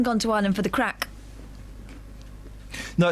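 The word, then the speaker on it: craic: No, it's a different crack that's spelled um C R. Do you want to put Do you want to write this down? Yeah. You guys, there's a pen. C C R R. I'm spelling it to you. So, I do the letters first, then you A. Yeah. Write it. I am. I Yeah. C. So, it's spelled. Craig, but it's crack.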